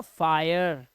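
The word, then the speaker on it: fire: है, कह रहा है जब किसी वर्ड में आई के बाद RE आ जाए तो इसका उच्चारण हो जाएगा आय, क्या हो जाता है, आय, जैसे देखो आई के बाद RE तो फायर, आयर, फायर, हायर, आयर, इंस्पायर, टायर, आई के बाद आ रही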